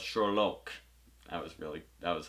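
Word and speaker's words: Sherloque: was fun and like having to correct people the entire season uh with them saying it wrong they'd call him sherlock he's like no it's shorlock that was really that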